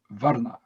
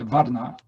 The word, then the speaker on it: Varna: One word, which is Varna, Romanized V-A-R-N-A, Varna. Indians can pronounce V. V becomes a W.